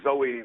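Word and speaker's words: Zoë: would always be pronounced Zoe uh not to rhyme with Joe just so you know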